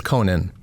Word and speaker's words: Conan: carson yeah yeah or conan it's conan so conan that's schwarzenegger it's spelled the same it's pronounced differently it should be said